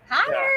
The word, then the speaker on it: hollow: So you know it's spelled HOLLOW in the South, you know. Holler. But Uh-huh. we don't say it like that. We say holler. We put a OW says Holler.